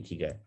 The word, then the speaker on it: ikigai: person talking about it, they have this smile on their face, ikigai. So that's how it's supposed to be pronounced. So your smile needs to be there first, and then it's ikigai.